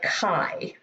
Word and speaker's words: chi: chicago is pronounced like chi how would i spell that k y e kind of like that okay so it's chi squared and the symbol